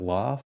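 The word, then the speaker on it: L0pht: course cult of the dead cow is it loft is that how you say it yep l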